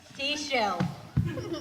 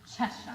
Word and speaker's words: Cheshire: Seashell. It's pronounced Cheshire.